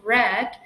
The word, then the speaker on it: read: itu bentuk ketiganya adalah memang tulisannya sama ya tapi membacanya akan berubah menjadi frame untuk bentuk kedua dan ketiga jadi the book is Red by Me kita lanjutkan